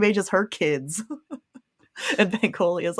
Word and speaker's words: Bankole: Pronunciation, that would be more helpful. Bankole. Bankole.